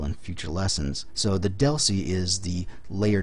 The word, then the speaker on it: DLCI: future lessons so the deli is the layer 2 address that frame really uses it's a 10bit um data link connection identifier dlci pronounced Deli they're locally significant we